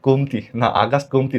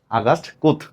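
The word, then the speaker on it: Comte: ফরাসি দার্শনিক আগাস্ট কোমতি না, এটার আসল উচ্চারণ হলো আগাস্ট কুথ।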